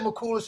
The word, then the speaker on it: Mulas: You can't pronounce my last name. Call in. Call in. It's my age. All right. Mulas. It's Mulas. Don't say that. No, I said Mulus and you said that wasn't it.